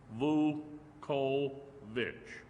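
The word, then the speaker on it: Vuckovich: The first c in the last name is silent and it is pronounced in three syllables. Vu co vich.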